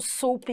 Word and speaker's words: soup: Outro que a teacher colocou aqui foi o soup e soap, porque a pronúncia é diferente, só que na hora de você ler parece que é igual, mas soup é sopa e soap é o sabonete.